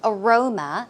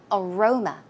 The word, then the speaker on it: aroma: night before right so Aroma as you can see the goes on the second syllable aroma aroma some synonyms are